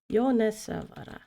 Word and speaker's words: Yonesawara: Oh, I did the name wrong. Thank you, Abe. Yonesawara.